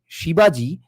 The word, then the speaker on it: Shibaji: It's specifically Shibaji because it's a spin on the pronunciation of Shivaji.